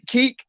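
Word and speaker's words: Kek: up, Grump, because maybe people don't know who Keek is, but you've seen them. Everybody's seen them. It's K-E-K. Pronounce his name again? How you spell it? K-E-K, Keek.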